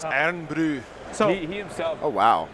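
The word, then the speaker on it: Irn-Bru: It's not Iron Brew. It's Iron Brew.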